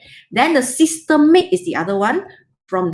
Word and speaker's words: systemic: So the second one is called systemic. Now, do you see this word? Systemic. Not systematic. A lot of students will do it wrongly, will say wrongly. They'll pronounce it as systematic, which is wrong.